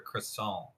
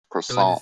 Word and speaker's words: croissant: Do you say croissant or croissant? Croissant. Croissant. Croissant. There's no T silent, right? The T is silent. So you don't say croissant with a T. You say croissant.